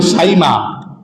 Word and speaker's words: সাইমা: একটা দুধ বোন ছিল সাইমা যারা সীমা বলে বইতে বলেও ঠিক না সঠিক উচ্চারণ হলো সাইমা এই সাইমা আমার নবীজির